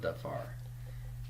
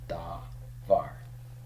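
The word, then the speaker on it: דָּבָר: Well, if I look at the second syllable of davar, this is the stressed syllable. There's no accent mark because we always stress the final syllable as a matter of course.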